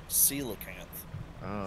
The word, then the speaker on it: coelacanth: learned it is not what's it how's it pronounced coelacanth silicon yeah well I found the Sela Camp